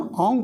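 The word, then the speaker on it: ॐ: ओम परब्रह्म का प्रतीक, तो उच्चारण ओम करना, ओम नहीं, म बोलते हुए होठ नहीं होने, जिसे गणपते नमः बोलते हैं, इसी तरह से ओम बोलना।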